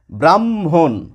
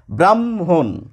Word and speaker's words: ব্রাহ্মণ: লেখা নেই এটিও লেখা নেই প্রমিত বা মান্যচলিত উচ্চারণে এই শব্দটি আসবে এইভাবে ব্রাহ্মণ ব্রাহ্মণ ব্রাম দেখুন এখানেও ব্রাহ্ম এখানেও ব্রাহ্ম এখানেও ব্রাম